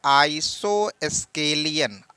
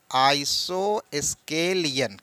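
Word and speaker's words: isosceles: बेटा इसको बोलते हैं आइसो स्केलियन आइसो स्केलियन क्या स् केलस भी बोलते हैं क्या बोलते हैं आइसो स्केलियन या आइसो स्केलियन भी बोलते हैं आइसो स्केलिंग क्या बोलते हैं बेटा आइसो स्केलिंग अब जरा समझिए स्पेलिंग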